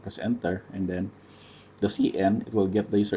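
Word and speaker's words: cin: for the user input the cn pronounced a cn is a predefined variable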